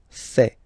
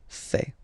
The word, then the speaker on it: fait: Il, masculin, and then elle, féminin, fait. Final T not pronounced. Il, elle, fait.